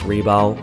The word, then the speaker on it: Rebal: It's Reebal. If you don't know how to pronounce my name, thought we were close.